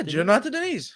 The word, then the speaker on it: Jonata Deniz: Yeah, Jonata Deniz. Yeah. Nice. All right, cool. International Fight Week. Do you like that fight? Yeah. Well, who's the first one again, though? You got me with the Jonata Deniz.